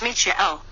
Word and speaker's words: Michael: then vibrate michael pronounced Michio the CH is pronounced softly as in the name of the musical composer Bach for in the North